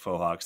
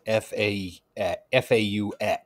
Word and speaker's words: Fohawk: Just Google us and then minimize the real Pink Fohawks that show up in images. And we are second or third in line there. And by the way, it is Fohawk, not Faux.